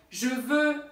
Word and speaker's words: je veux: Porque você vai precisar falar ele para conseguir fazer a pronúncia dessas duas frases. Então, je veux aller voir le film.